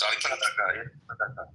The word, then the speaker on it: Sadaqah: How is it pronounced? Sadaqah.